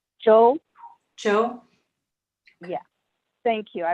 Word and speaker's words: Zhou: And while we're waiting, how do you pronounce that last name? Joe, Joe?